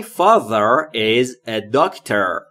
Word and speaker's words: father: not for me my father is a doct my father یعنی پدر من تلفظ تی ا در رو دقت بکنید زبونتون زیر نیش دندون بالا و سعی میکنید بگید ز زنبور یعنی پدر من از